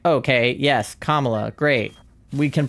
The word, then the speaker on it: Kamala: probably pronounce that like where we put emphasis on like the second syllable versus putting emphasis on the first syllable. But as soon as she was like, "Hey, it's actually Kamla."